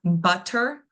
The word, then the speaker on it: butter: So in the word butter. BB- butter. We can hear that our stress syllable right away that we are over pronunciating is gonna be that bbb butter.